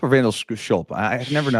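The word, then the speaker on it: Zandschulp: Vandal Sculp or Vandal Schulp? I never know how to say it. Vandish and Schlope.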